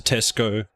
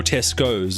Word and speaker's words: Tesco: Or Tesco's. Apparently there's a debate about is it Tesco, because that's how it's meant to be pronounced, or Tesco's.